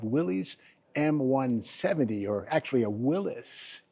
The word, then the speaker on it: Willys: M170 or actually a Willis. I guess the correct pronunciation is Willis M170.